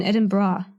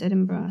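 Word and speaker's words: Edinburgh: been informed it's been edin bra you you pronounce Ed Ed bra yeah it's not it's not edin B it's edin bra so I learned that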